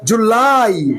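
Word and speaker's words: July: উপরে টান হবে ল কে চাঁদ দিয়ে ধরবা জুলাই জুলাই আগস্ট আগস্ট আগস্টরা বলো আগস্ট আগস্ট সেপ্টেম্বর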